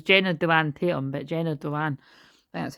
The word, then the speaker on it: Dewan: Jenna Dewan, it was Jenna Dewan Tatum, but Jenna Dewan, that's how you say it.